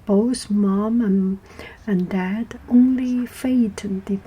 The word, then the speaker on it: Phaethon: So I would like to tell the story of Phaethon. Phaethon, Phae, Phaethon. Some people pronounce it Phaethon.